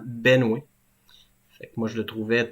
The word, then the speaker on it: Benoît: moi mais peut-être que les gens prononçaient Benois comme étant Benoué fait moi je le